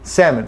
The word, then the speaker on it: salmon: So we've got salmon, salmon, salmon, salmon. Seriously, no L. Okay, so the L is often without a sound.